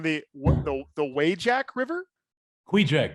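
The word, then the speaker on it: Kvichak: compound uh on the the way jack river quija quija it's spelled k-v-i-c-h-a-k you're not doing any ruby ridge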